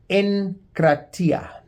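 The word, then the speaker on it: ἐγκράτεια: It's the word encratia. It's spelled with a G and pronounced with a N. Encrreta, which means to be strong, masterful as in mastering, ruling over the ability to rule.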